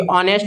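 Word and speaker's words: honest: एन ए यहां पे नहीं होगा क्योंकि ऑनेस्ट बोल रहा है। उच्चारण स्थान स्वर आ रहा है।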